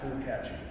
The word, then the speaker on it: Lukacsy: The CS is pronounced ch. So it's like Lou and then catchy. Lukatchi.